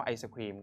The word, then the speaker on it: ไอศกรีม: ตอบ ค นะ ครับ ไอศกรีม เห็น ไหม ครับ เขียน ด้วย ไอศกรีม ไม่ ได้ อ่าน ว่า ไอศครีม ก็ ได้ นะ ครับ ส่วน วิจารณ์ อัน นี้